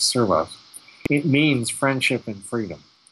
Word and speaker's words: Servas: But Servas is spelled Servas, and I know it as being pronounced as Servas.